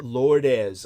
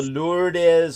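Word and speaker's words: Lourdes: a reason to exist I'll make it the lordes for those of you who don't know that's spelled l u r yeah yeah l o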